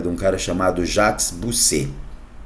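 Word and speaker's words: Bossuet: Por fim, eu quero que você saiba de um cara chamado Jacques Bousset. O Jacques Bousset, ou se você quiser falar com a pronúncia mais francesa, Bisset, ele dizia que o rei governa porque Deus quer.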